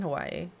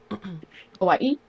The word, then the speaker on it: Hawaii: Like she says it's not You don't pronounce it Hawaii. It's I can't I can't do it. Hawaii. Hawaii. Hawaii. She says it like that. Yeah. Like the Because here there's um there's a mark between that the two eyes and